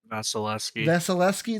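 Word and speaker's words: Vasilevskiy: Vasilevsky.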